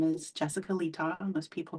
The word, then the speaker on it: Letaw: My name is Jessica Letaw. Most people call me Jess. My last name rhymes with seesaw.